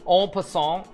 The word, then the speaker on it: en passant: Actually, Halifax is from Eastern Canada, so I should actually be pronounce it correctly. En passant is when a pawn passes through another pawn.